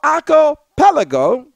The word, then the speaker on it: archipelago: at that time to police our Aro our archipelago that's the proper pronunciation our arelo with respect to the trans